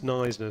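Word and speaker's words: Knysna: It's always been there, but yeah, she always it's Nisner spelled with a K and it's um on the garden route.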